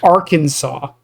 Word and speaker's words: Arkansas: But it's pronounced Arkansas.